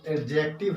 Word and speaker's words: adjective: सबसे पहले तो यह जान लीजिए कि जो एडजेक्टिव है इसको हम लिखते हैं एडजेक्टिव, लेकिन पढ़ते हैं क्या, एडजेक्टिव, क्योंकि इसमें डी जो है साइलेंट हो जाता है।